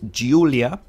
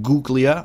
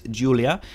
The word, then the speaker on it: Giulia: is an Alfa Romeo and that's how you pronounce the name of the company the model name is Giulia Giulia it is not GU Clea or anything like that it is Giulia it's the name giulia of course it can